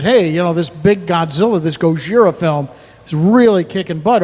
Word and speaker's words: Gojira: Gojira, I guess technically is how it's pronounced.